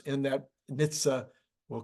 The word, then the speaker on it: NHTSA: of the uh words and letters in that Nitsa we'll call it Nitsa from now on I